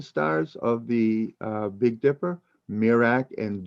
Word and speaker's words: Merak: these two n stars of the big dipper mirak and dubi or some pronounce it dubai b-u-b-h-e and mirak m-e-r-e-k merak and dube and notice that so many of